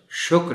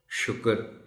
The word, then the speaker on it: شکر: کو بھی بتائیے کہ یہ لفظ شکر ہے، شکر نہیں ہے۔ تحمل، تحمل بول دیا